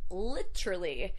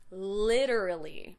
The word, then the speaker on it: literally: First, literally or literally if you're using the British pronunciation, but Americans will say literally. We make that T into a D. That's very typical of American English.